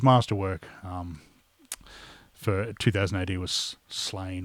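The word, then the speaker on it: Sláine: But really, his masterwork for 2000 AD was Slain or Slawn, I believe it's supposed to be pronounced.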